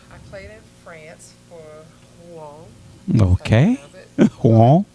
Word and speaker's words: Rouen: So I played in France for Rouen. Okay. That's how you pronounce it.